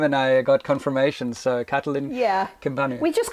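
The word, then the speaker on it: Catalin Cimpanu: I asked Catalin how to pronounce his name, and I got confirmation. So Catalin Kimpanu.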